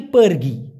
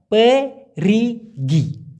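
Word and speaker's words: perigi: পেরগি মানে হচ্ছে যাওয়া কিন্তু পেরিগি একটা হলো পেরগি এখানে শুধুমাত্র রসিকাটা বেশি পেরিগি এটা মনে হলো কূপ অথবা কুয়া কূপ অথবা কুয়া বুঝতে পারছেন গ্রামাঞ্চলে দেখবেন এরকম কূপ থাকে সৌদি আরবে কূপ থাকে যেখান থেকে পানি উত্তোলন করে সেই যে কুবগা বা কুয়া ওটাকেই বলা হয় পের রিগি আর শুধুমাত্র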